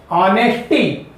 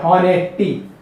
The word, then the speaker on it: honesty: ऑनेस्टी, क्योंकि ऑनेस्टी में या ऑनेस्ट में एच जो है साइलेंट नेचर का होता है इंग्लिश के नियमानुसार। इंग्लिश ग्रामर के आधार पे ऐसे शब्द में जो एच है हम लोग ये नहीं पढ़ते हैं, हॉनेस्टी, ऑनेस्टी नहीं पढ़ते हैं।